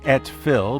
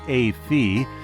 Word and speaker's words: Et Fille: the Newberg area a wines it looks like ET Phil but is pronounced a fe is a unique Winery with a unique backstory